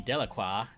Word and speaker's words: Delacroix: and harry jones and dickie delaqua the villagers pronounced his name delacroix eventually made a great